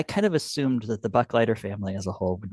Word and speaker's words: Buchleiter: People have a tricky time pronouncing it unless you My grandfather always said, "If I gave you a dollar, I'd be a Buck Lighter."